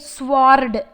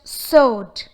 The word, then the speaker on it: sword: The word sword has the letters W and R, but the approximate consonant sounds of these two letters are unheard. We do not say it sword, it's just sword.